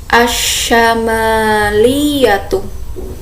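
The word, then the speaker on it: الشمالية: Nah, jadi di sini mimnya itu panjang ya, bukan asyamaliyatu, tapi yang benar asyamaliyatu. Jadi mimnya dipanjangkan.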